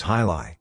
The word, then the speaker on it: jai alai: boxing co-patted three jilai Jai Lai pronounce hilai is that strange-looking competition